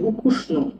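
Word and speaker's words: ukusno: এই ইউকে আমরা ওয়াই এ ইও লিখতে পারি, ইয়াকুষ্ণ বলা যায়, তো সবচেয়ে ভালো হচ্ছে উকুষ্ণ বলা, তো উকুষ্ণই বলবো আমরা, যেটা আসল হয় উকুষ্ণ বলে, মানে সুস্বাদু।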